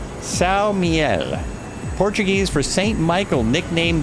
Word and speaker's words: São Miguel: It's uh pronounced Siel, Portuguese for St.